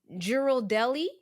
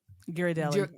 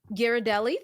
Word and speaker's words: Ghirardelli: I should know how to say this but Gerald Deli Ghirardelli yeah Ghirardelli thank you and D baker's chocolate what's the